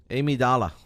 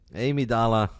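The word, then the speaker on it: Amygdala: Amy Dala. The G is silent. You guys don't know this, but I do. Amy Dala And the G is silent.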